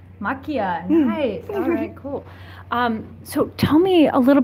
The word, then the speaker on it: Maquia: a writer of Mike how do you say it Makia look yeah machia so tell me a